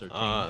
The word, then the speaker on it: Surtain: Patrick Surtain. Pretty sure it's pronounced Surtain, but okay.